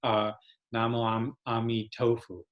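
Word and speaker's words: 南無阿彌陀佛: and if you hear Chinese people they're gonna say na mom mommy tofu which always makes me hungry but it's just the Chinese pronunciation there's no meat tofu it's not really tofu but it sounds kind of like tofu the other recitations that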